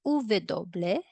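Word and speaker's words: uve doble: you might be wondering no there is this uvedoble and in this video it is pronounced or called as dobleve so both are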